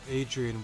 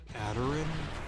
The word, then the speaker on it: Adrian: was back at where Adrian was. Well, actually, I realize I have always been pronouncing her name wrong. It's like Aderin, something like that.